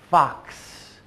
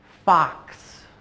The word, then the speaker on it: fox: four sounds F A the X makes two sounds c s Fox and and it's amazing how many students when they're first learning to make that sound they will either say F or Fu they have difficulty putting those two sounds together so try that one more